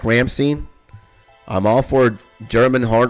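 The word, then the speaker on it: Rammstein: Yeah, it's pronounced Ramstein.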